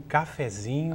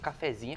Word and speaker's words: cafezinho: da Verdade é um cafezinho café café mas daí tem um inho no final oxítona por causa do Zinho daí já é outra é outra sílaba tônica não eu acho que